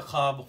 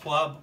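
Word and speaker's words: خواب: सही तलफ़ुज़ है, ख्वाब, ख्वाब कहना गलत है, वाव इसमें खामोश है। आपकी महबूब ज़ुबान अंग्रेज़ी में साइलेंट है।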